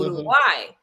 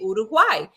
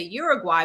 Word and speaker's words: Uruguay: You say Uruguay. If you can't say Uruguay, then you can say, at least try to get closer and say Uruguay, but don't say Uruguay because that's not how you pronounce it.